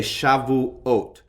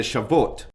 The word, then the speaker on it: Shavuot: And I might note that I'm going to periodically slow down the way these words are pronounced. You probably would not pronounce the word that defined, that you would say Shavuot.